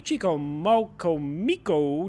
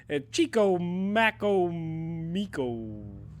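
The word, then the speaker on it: Chicamacomico: of Indians at the Chicomocomico, North Carolina tribe near the Hatteras Inlet. I know I butchered the hell out of that. Yeah. It is Chicomacomico.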